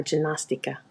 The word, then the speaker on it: ginástica: A small thing here about how Paula pronounced the G in ginástica. It sounded more like a J, as in Joe, but there shouldn't be a D sound there.